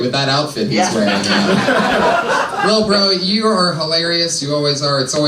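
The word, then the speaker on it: Lil Brough: He spells bro with 3 silent letters at the end.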